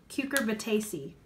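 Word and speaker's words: Cucurbitaceae: the gourd family is like official name is Q Corbett AC I actually looked up how to pronounce it and that's actually how you pronounce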